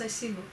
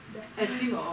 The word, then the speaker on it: ASIMO: going to say oh he's pronounced Asimo Asimo okay that's fine thank